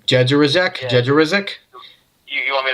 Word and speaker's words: Jędrzejczyk: Now this is gets a little crazy, okay? Polish a little crazy. Yem. Just pronounce it completely. Jędrzejczyk.